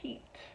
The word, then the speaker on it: Pete: pet at pet and just by adding that silent e to the end but I'm also going to capitalize the first P because it's the name of a character I can take pets with that silent E and change it to Pete but notice that I